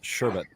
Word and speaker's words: sherbet: to the same podcasts it's sherbet like hermit yeah I do like